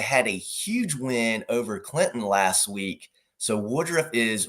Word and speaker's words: Clinton: pronounce the T in Clinton. I I try my best. I try my best. And I know the saying is the T is silent but sweet.